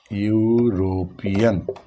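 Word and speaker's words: European: यूरोपियन यूरोपियन यह अंग्रेजी में वोवेल से शुरू है। अंग्रेजी के अक्षरों में इसका पहला अक्षर लेटर वोवेल है। जबकि हिंदी में लिखने पर यह कसोनेंट इसका पहला उच्चारण साउंड है।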